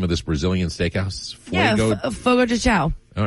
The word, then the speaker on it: Fogo de Chão: Rob from Cedarville says, do you know how to pronounce the name of this Brazilian steakhouse? Fogo de Chão.